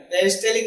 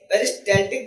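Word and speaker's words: peristaltic: पेरिस्टालिक नहीं है, पेरिस्टाल्टिक movement है।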